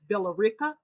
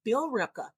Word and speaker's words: Billerica: Well, I pronounce it as Billerica. Some, but people, who's from there, they say no, it's Billerica.